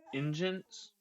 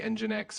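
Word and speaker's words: nginx: It's N G I N X and you call it engines like almost like you're saying engine. Yeah, exactly. It can definitely be a bit tricky to pronounce. Uh, most people say Engine X or just Engine X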